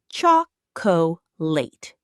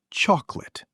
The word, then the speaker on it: chocolate: Many learners say chocolate. Native speakers usually say chocolate.